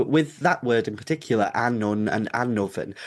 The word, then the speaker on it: Annwn: ago at this point, told me that it was Annwn, the spoils of Annwn, not, Anuv. I'm going to butcher all